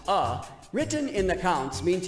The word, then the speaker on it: a: The A, pronounced uh, written in the counts means your foot will stay up after the plus sign.